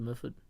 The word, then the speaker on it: Medford: Shako says Medford is locally pronounced Mufud.